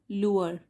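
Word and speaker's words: lure: हुआ यह वर्ड है इसको प्रोनाउंस करेंगे हम लुर तो एल यू आर ई लुर और डी लग गया लुर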